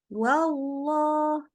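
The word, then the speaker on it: والله: tebal jadi baca bacanya wallah wallah gitu ya ingat Allah tebal itu karena mengangkat pangkal lidah Allah gitu ya bukan mengokan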